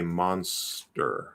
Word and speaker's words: monster: still a t but go ahead and do a weak d so if you say monster monster like it's clearly a d but it's weak it's not monster right